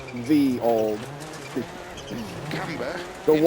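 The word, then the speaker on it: Ye olde: ye old. Into 2 right of a crest. That's actually not pronounced ye old. 50. It's pronounced the old.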